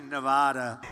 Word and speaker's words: Nevada: The Donald seemed delighted with his own pronunciation. Nevada. Nobody says it the other way. It has to be Nevada. Actually, Donald, wrong. This is right.